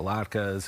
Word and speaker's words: latke: But what is the key here to the good latke? That's the correct pronunciation?